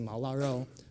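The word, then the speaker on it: 毛腊肉: You pronounce it Mao La Rou.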